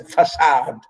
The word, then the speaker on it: facade: and pronounce it as facade not for said or for cade okay this is how we pronounce it it's the french the french way of pronunciation many years have passed